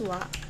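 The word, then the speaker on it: は: The wa or the character ha, pronounced as wa, is a particle.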